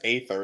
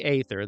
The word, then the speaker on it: Aether: They pronounce it as Aether in the English version, so that's why I. Oh, they do. They do say Aether.